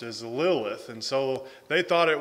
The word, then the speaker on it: Lilith: means screech owl and the way that it's pronounced is lilith and so they thought it was some person